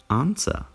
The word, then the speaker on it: answer: Answer. Answer. Answer. Pozor, je tady dvojité V, které je silent.